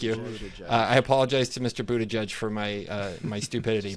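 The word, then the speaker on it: Buttigieg: pretty straightforward like don't do it like Pete butter get Buddha gig how do you pronounce it yes thank you I apologize to Mr Buddha judge for my uh my stupidity but he's a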